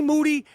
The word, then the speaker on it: Moody: G Moody rhymes with duty, and the Gringo Mandingo live July 28th in Minneapolis, Minnesota.